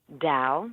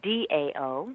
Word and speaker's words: Tao: how you say it Dow let's pronounce like Dao oh I never knew